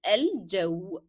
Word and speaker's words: الجو: So normally we say الجو. And don't forget the hidden D in the pronunciation of j.